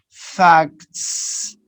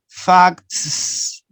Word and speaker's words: facts: is very tricky no because you have ka three consonants together ka facts facts so tricky it's difficult to pronounce so what do the native notice native speakers do that so they are going to take out one sound this is a general